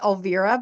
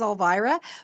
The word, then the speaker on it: Elvira: Um also, my name is pronounced Alvivera, by the way. Everybody says Alvara, but it's actually Alva.